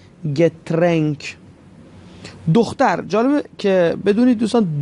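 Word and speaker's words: Getränk: اوملاوت دوستان آیه دو نقطه گفتیم ای تلفظ میشه، پس میشه داس گترنک.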